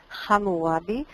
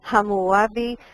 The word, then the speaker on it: Hammurabi: Se pronuncia en hebreo con la letra G, Hammurabi. Yo sé que en español es Hammurabi y a veces en otros idiomas aparece con P, Hammurabi también.